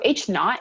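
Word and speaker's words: H₀: it's a zero okay so that zero is pronounced not like without okay as a um synonym so h naught is representative of the null hypothesis so we'll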